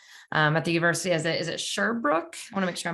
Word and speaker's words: Sherbrooke: Is it Sherbrooke? I want to make sure I'm pronouncing that correctly.